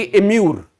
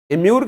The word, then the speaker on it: immure: यानी कि इम्यूर, इम्यूर की जो स्पेलिंग थी वो IMMURE, इसको इम्यूर नहीं कहते, इम्यूर कहते हैं।